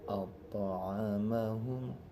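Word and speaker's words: أطعمهم: Maka to-nya ini lunak saja. Alladzi at'amahum, jangan ato ya, terlalu tebal, terlalu besar ya. Maka lunak saja at'amahum ya.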